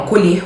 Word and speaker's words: colher: Você vê que a escrita é igual, homógrafo, só que a pronúncia é diferente. Um é fechado, o outro é aberto.